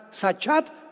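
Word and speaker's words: שחת: La palabra corromper también es importante porque la palabra hebrea sachat se escribe con s como suena sachat con t de tío al final.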